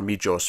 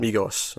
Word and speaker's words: Migos: Or Mijos, however you pronounce it. I think you might have been right the first time. Migos, okay.